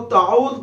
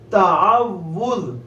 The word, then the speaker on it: تعوذ: پڑھ رہے ہیں تعوذ۔ اس کو بہت سے لوگ تعوذ پڑھ دیتے ہیں، تعوذ نہیں پڑھنا، تعوذ۔ واو کے اوپر جو تشدید ہے اس تشدید کی آپ نے ادائیگی کرنی ہے، تلفظ درست ادا کرنا ہے، تعوذ۔ حمزہ کے اوپر